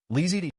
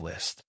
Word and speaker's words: List: Xianxia, come, repeat after me, List. Lizzy, that's right, just say it like this, List.